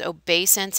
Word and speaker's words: obeisance: haven't heard before and make sure you get the pronunciation right it is obeisance it sounds like a long a even though there's an e there for that third letter it's a noun and